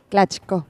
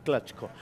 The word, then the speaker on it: Clatco: Clatco, pronuncié bien tu apellido, ¿cómo pronunciar vos? Dale. Clatco. Clatco.